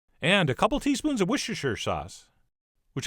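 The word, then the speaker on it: Worcestershire: a couple teaspoons of wierer sauce which I've been told I could just pronounce Worcester sauce which sounds a little too easy there must be a catch but anyway we'll do some wierer sauce followed by some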